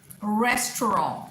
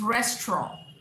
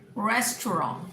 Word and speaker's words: restaurant: Hotel, pizza, restaurant, RESTAURANT is restaurant, restaurant, not restaurant, restaurant.